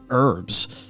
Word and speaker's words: herbs: So, like ore, herbs, or shall I say, for those who like to pronounce it correctly, herbs.